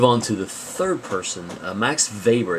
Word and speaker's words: Max Weber: to the third person max weber it's pronounced v even though it's spelled with a w max weber was kind of a